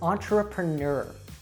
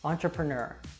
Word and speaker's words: entrepreneur: for learners is that we have many French words in English but they're not pronounced like French usually so a really great example of this that you probably would be very confused if you saw it written down as to how to say it is entrepreneur entrepreneur schedule